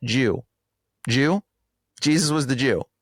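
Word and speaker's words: 十: Even their word in Japanese, dude, the word for um for 10 is a Christian cross and it's pronounced Jew.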